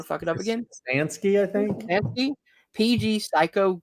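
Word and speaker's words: Kostanski: Kostansky.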